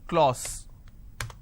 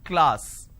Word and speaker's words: class: example the word class a lot of people pronounce this as claus it's not claus it's class so i have ka le ah this is